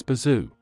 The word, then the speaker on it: Boozoo: buzu along with Sean Billy have been invited by bond to have a movie night and sleepover however when he is listed the second time he is pronounced as Bazoo he and his friends